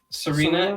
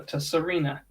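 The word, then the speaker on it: Tsareena: Serena. Yeah. I think you say the T though. Tasarina.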